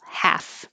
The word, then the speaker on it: half: half no l just forget the l half if you use this